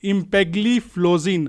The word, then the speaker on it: empagliflozin: और ये जो दवा है जिसका नाम है इम्पेग्लिफ्लोजिन, तो स्पेलिंग जो है वो EMPAGLIFLOZIN, आप इसको सर्च कर सकते हो अगर आप फार्मा सेक्टर में इन्वेस्टेड हो तो।